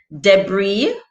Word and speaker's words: debris: Debris with the silent S at the end.